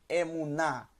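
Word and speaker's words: אמונה: num com o câmera Lembrando que o rei no final da palavra não tem som assim como o ali então eu tenho é munnar é munnar é Mu na primeira sílaba É segunda sílaba mesmo ai sumo você pega cima em mais a na emunah emunah confiança absoluta a fé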